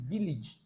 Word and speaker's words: village: private life all right you see the a there in village there is nothing like village it's village all right village so that is why it is like that village and nothing like courage is courage courage so the a receives e sound then mgage All right.